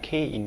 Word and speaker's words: K: Like the letter K in English, but it is pronounced Ki.